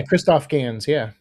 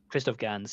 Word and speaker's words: Christophe Gans: Yeah, Christophe Gans, Christophe Gans, yeah.